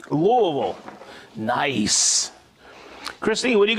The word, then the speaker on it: Louisville: Louisville, he said it right, Louisville.